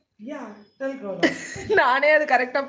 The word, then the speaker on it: Dalgona: Naga Kannada irundhittu Telangana coffee pannitom. You mean Dalgona? Yeah, Dalgona. நானே அது கரெக்டா pronounce பண்றேன்னே தெரியல.